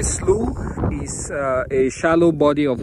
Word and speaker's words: slough: video so today uh you might have heard people talk about sleuth uh mostly people from the midwest and you might be wondering what is so slow is spelled s-l-o-u-g-h and uh in north america a slu is a shallow body